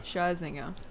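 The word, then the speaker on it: Scherzinger: Sherzinger.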